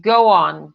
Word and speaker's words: go on: Go on, go on. Fala go on em voz alta, vai. Go on. Você está percebendo que tem um W aqui no meio?